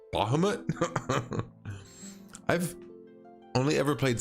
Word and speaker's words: Bahamut: I was putting the emphasis on the wrong syllable. I think I was calling him like Bahamut or something like that. And then Devin was like, Bahamut?